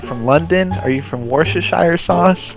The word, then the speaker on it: Worcestershire: Are you from Worcestershire sauce?